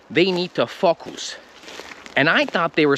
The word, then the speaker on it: focus: that they just didn't know how to say focus so that's why i'm making this video so that you say focus and not like us or